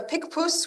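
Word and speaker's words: Picpus: or SL say slowly it is a pikus which is p i c p u s that's pretty easy yeah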